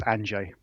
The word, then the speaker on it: Andrzej: not please correct me you're close enough it's anj anj okay fantastic fantastic we're we're